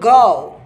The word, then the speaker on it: go: इसको गो नहीं बोलते भाई साहब, इसको बोल गाओ।